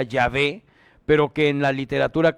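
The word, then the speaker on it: Yahvé: porque tiene el tetragramatón yhh que realmente se pronuncia yavé pero que en la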